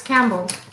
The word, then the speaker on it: Campbell: It's Campbell. Like Campbell soup.